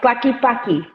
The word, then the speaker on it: Tlaquepaque: Tlaquepaque, I can't Clacky, pronounce that. it's Clacky Paki.